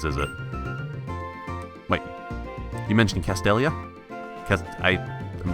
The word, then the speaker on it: Castelia: I swear to God C oh I did pronounce it correctly castelia City what I really want is to go